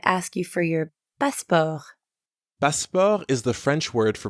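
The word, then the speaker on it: passeport: you for your basketball baspar is the french word for passport the pronunciation is almost the same as in english but you don't pronounce the t sound at the end we would have a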